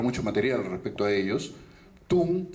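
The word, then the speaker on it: Thun: Tung se escribe con T-H-U-N, ¿sí?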